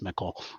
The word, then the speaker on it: Michel: I do my best to learn the lore and everything, but for whatever reason, I've always pronounced that Michael. It's Mickle.